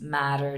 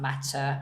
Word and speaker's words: matter: And also noticing the difference in pronouncing like soft T's, matter, not matcha.